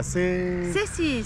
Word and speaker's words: Cēsis: À C6. C6. Ouais. T'as vu ça? Parfait. La prononciation parfaite.